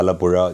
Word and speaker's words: Alappuzha: So, that meri mummy sound is the one that is in Kanimozhi Alappuzha.